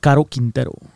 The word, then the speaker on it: Caro Quintero: Caro Quintero.